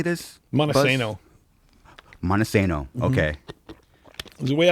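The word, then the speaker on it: Montesano: Monoseno.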